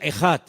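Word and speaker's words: אחד: Dios es uno es una palabra que se pronuncia ejad e J a d ejad ahora Si hablas con digamos con judíos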